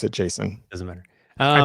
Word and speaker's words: JSON: I pronounce it Jason.